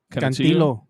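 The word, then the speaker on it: Canutillo: You want to pronounce that? I can't. Canatillo or Canatillo? Cantillo.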